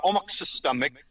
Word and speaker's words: Omahksistaamik: Uh, Omic is the Blackfoot pronunciation.